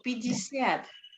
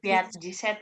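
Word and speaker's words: пятьдесят: Pijisiat. Pijisiat, Ya, pijisiat bukan piat-jiset ya. Pijisiat bacanya.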